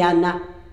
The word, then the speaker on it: Anna: Il a marqué Anne, mais c'est Anna. C'est Anna Deboer.